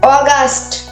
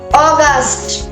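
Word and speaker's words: August: June July July আগস্ট আগস্ট September September October October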